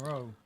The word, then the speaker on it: rho: Kai and row.